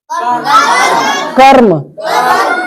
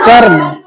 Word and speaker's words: कर्म: इसको क्या बोलेंगे अब इसको बोल सकते हो कर्म कर्म नहीं कर्म र का उच्चारण बहुत हल्का कर्म ओके नींद आ रहा